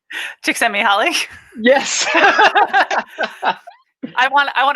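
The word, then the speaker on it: Csikszentmihalyi: do you know what i'm going to say chick sent me holly yes i want i want to hear you say it knee high chick sent me high that's what i yeah i listen to audio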